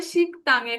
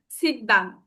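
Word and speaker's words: 식당: তাহলে এটার উচ্চারণ হবে শিক্তাং খায়। হ্যাঁ শিক্তাং। কোনভাবে আপনার হবে না। শিখদাং।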